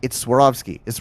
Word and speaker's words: Swarovski: Yes, they've spoonerized two of the letters. I'm like, it's Swarovski. It's Swarovski crystal.